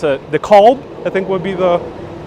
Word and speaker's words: DeKalb: Same thing with DeKalb. That's how they pronounce it here, DeKalb.